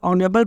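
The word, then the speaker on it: honourable: उसके बाद एन ऑनरेबल person था, इसमें ऑनरेबल में एच साइलेंट है तो ऑनरेबल पढ़ेंगे, तो ऑनरेबल में ओ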